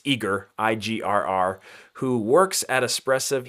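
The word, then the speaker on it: IGRR: We've got, I only know how to pronounce his handle. It's Igor, I-G-R-R, who works at Espressive.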